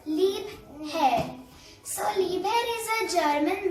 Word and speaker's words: Liebherr: so let's go so we have to pronounce it as lip hair so libre is a